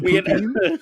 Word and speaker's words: poutine: You got to give it a second syllable, man. Are you having a stroke? How you say it again? Poutine. Or like in the French, I think the French kind of go like poutine. But like, screw that. Poutine.